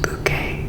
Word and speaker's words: Bucket: Hiasin insists her last name pronounced bouquet to sound more refined.